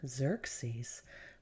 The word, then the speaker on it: Xerxes: King Xerxes which is kind of a funny way to say a name Xerxes but it's spelled x e r x s I don't